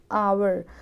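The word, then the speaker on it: hour: यहाँ पे आवर, तो यहाँ पे एच साइलेंट है, आवर अ से शुरुआत हो रही है ना, तो यहाँ पे क्या आएगा?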